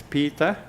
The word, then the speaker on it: Piita: So if you want to invite yourself to my Facebook, you can find me as Piita, P-I-I-T-A, which is Inuit way of pronouncing Peter, Irniq, I-R-N-I-Q.